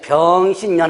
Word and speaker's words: 병신년: 그러니까 이게 병신년 하면 안 되고 세 가지를 연속해가지고 그래서 발음 조심해야 돼요.